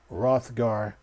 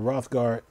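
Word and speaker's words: Hrothgar: dant is a female rothgar first introduced as a male only option in a shadowbringer expansion the long waited female rothgard the H is silent by the way it says will uh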